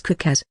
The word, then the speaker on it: Cookus: Yes, Your Highness, but the pronunciation of my modest name is Cookus.